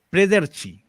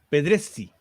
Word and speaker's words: Pedrezzi: Primero a la académica, quiero que me digas si pronuncio bien tu apellido, Prederci, ¿no? No, Ya, Pedres. Pedrezzi, Sí. ya.